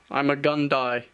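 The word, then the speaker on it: Ima-Gun Di: custom Jedi have actually made is Jedi Master I'm a gun die yes it's how you pronounce his name and Trey stays true to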